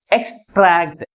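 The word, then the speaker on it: extract: ని second syllable ముందు ఉంచుతాము నెక్స్ట్ వన్ ఇస్ ఎక్స్ట్రాక్ట్ దీంట్లో ఎన్ని సిలబస్ ఉన్నాయి టూ సిలబల్స్ ఉన్నాయి ఏ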